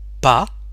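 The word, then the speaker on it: pas: the same thing for PA we don't pronounce the S PA for step or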